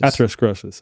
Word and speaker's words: atherosclerosis: Atherosclerosis. Yeah. Okay. Define what both of those are, and then also what the mainstream says is the cause of both of those things. Yeah. Well, atherosclerosis is just, there's different types of atherosclerosis.